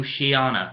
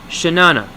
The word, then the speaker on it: Chenana4ever: Not Shayana, not Triana, or your butthurt white knight stop Shay Carl, it's Shenana.